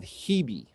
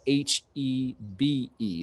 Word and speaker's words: Hebe: This is a type of Hebe. It's spelled H-E-B-E. So a lot of people just say Hebe, but it's Hebe.